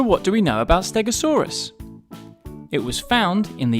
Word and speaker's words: Stegosaurus: to learn all about stegasaurus how do you say that again stay go saw Russ can you say it with me stay go saw Russ so what do we know about stegasaurus it was found in